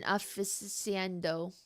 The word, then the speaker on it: aficionado: She herself is I feel like I know this word, but I don't know how to pronounce this word. An aficionado.